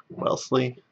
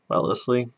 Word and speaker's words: Wellesley: from the wellesley college wellesley well leslie i always pronounce extra extra syllables than i need to especially for all these new england towns so we've got wellesley